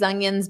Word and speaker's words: onions: Notice how I say it. I'll say it slowly. Onions. So, it's not ignore the spelling. It's very different. Like the word young.